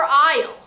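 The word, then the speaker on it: aisle: for the first first one a is for isle really a is for isle it actually looks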